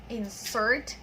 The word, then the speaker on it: insert: Okay, so the first insert there is a verb, insert, and then the stress is in the second syllable. And then the second insert is a noun. All right, so of course we stress the first syllable.